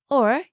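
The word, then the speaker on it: を: Wo is actually more commonly pronounced as o.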